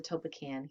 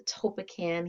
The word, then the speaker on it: Tolpakan: is it called the topekan healing method actually most people mispronounce this topac but you know that's